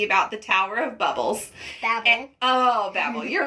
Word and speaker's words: Babel: Also, she kept correcting me because I kept saying it wrong. So it is the Tower of Babel.